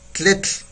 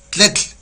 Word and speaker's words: tletl: Lumbre en náhuatl es tletl, así, tletl. ¿Sí? Se utiliza mucho la lengua así muy pegadita, tletl, ¿sí?